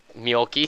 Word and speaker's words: Mjolki: Oh, well, hello, Mjolki. That's pretty Actually, cool. it's pronounce it like Mjolnir from Thor, and that's how you pronounce her name, Mjolki.